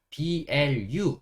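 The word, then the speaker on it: blue: 번 더 쓸 거예요 그리고 유는 우 소리가나요 여기서 그래서 우라고 쓸 거고요 그다음에 마지막에 있는이는 여기서 가 나지 않는 무음이에요 그래서 blu 여기까지만 소리를냅니다 그래서 읽어 보면 어떻게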